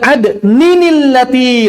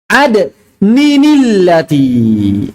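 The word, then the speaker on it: عدنٍ التي: atau tahriq ya kemudian adninillati nah ini yang tadi nyambung sama tanwin adnin ketemu allati maka cara bacanya adninillati atau misalnya yang lain Apa asalnya?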